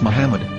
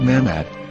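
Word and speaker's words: מחמד: a after the h according to ben yehuda's hebrew english dictionary it is correctly pronounced as muhammad not mahmoud so how we're going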